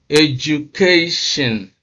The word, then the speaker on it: education: Education. You can see that stress is on the second syllable from the end or the third syllable from the beginning.